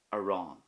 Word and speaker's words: arán: for bread, which is aran. So the start of that word is a, and then at the end you will hear the stress and focus on the fada, aran.